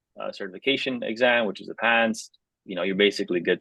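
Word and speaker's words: PANCE: want to take the pants exam uh it's spelled p n CE not pants like the pants you wear but that is our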